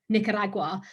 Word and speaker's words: Nicaragua: I didn't know that it was pronounced Nicaragua, and I was pronouncing it Nicaragua. And you know, people that I'd meet would just be laughing and like, say it again, and because I was like, but that's how you say it. Apparently you roll the R.